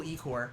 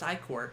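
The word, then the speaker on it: ichor: I can fill it with magical Ecor. That's pronounced Icor. Shit. Why does it sound much better as Ecor?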